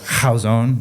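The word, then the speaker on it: Chazown: through a book called houson yes that's how you say it oh wow c-h-a-z-o-w-n by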